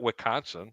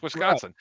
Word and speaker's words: Wisconsin: wisc Wisconsin Right W DS isn't silent it's not wiconsin it's Wisconsin but people like to